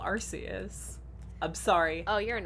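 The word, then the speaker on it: Arceus: uh the canonical one if the canonical uh pronunciation is in fact uh arus yeah well I think they were trying to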